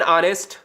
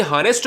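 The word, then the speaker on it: honest: किंतु साइलेंट होता है, यानी जो हा होता है ना ये साइलेंट होता है। अब यहां से क्वेश्चन हर बार पूछा जाता है। अब किस तरीके से क्वेश्चन पूछा जाता है कि एन ऑनेस्ट, भाई हॉनेस्ट तो थोड़ी ना पढ़ेंगे, एन ऑनेस्ट, एन हावर,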